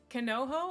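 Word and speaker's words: 彼女: Is it Kanoho or is it Kanojo?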